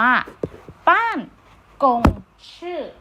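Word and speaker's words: 办公室: ไป หา คำ นี้ อ่าน ออก เสียง ว่า ป้าน กง ชื่อ นะ คะ ลูก บ้าง คง ชื่อ เนี่ย ใน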